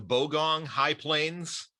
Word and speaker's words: Bogong High Plains: i i want to try to get the pronunciation correctly here the the bogong high plains is that is that correct yeah that's correct